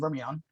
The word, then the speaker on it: Vermilion: Landry, Lafayette, and Vermilion, or Million, as I'm told, the correct pronunciation, only can apply for economic injury.